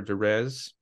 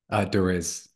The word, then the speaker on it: Derisz: Is it pronounced Derisz or Derez? Derisz. You were close, almost, Okay, yeah.